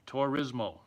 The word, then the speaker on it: Turismo: tour rismo t tour rismo T tourismo rismo tourismo there you go Grand Turismo thanks for setting